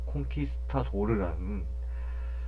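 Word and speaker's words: conquistador: 이제 영어로 얘기하면은 콘퀘스터러인데 이제 스페인어로 콘키스타도르라는 이제 발음으로 불리게 되죠.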